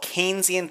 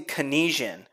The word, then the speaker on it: Keynesian: And if you say Keynesian, then you automatically fail this class. It is not Keynesian. It's Keynesian. Keynesian.